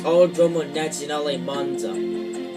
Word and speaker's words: Autodromo Nazionale Monza: Yeah, I couldn't really pronounce the name of this track, but after hearing the pronunciation of it, you know, in this game, I learned how to pronounce it, so it's Autodromo Nazionale Monza.